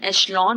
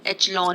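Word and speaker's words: echelon: इसकी pronunciation एशलॉन होती है। इसे बहुत लोग एचलॉन भी पढ़ते हैं, एक्लॉन भी पढ़ते हैं।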